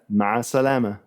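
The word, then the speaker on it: مع السلامة: Ma salama.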